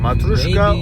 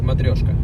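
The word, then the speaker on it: Matryoshka: Matuska or Matrioska. Which is correct? What? Matrioska. Matrioska. Okay.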